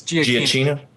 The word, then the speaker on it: Giacchino: I unfortunately don't know how to pronounce his name appropriately. It's Giacchino.